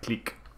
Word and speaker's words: clique: So the thing about French Canadian is you'd think they'd pronounce the French words that we pronounce French, like clique. But they still say click.